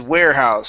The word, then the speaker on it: warehouse: I believe, yes, it is warehouse. So long A sound at the beginning.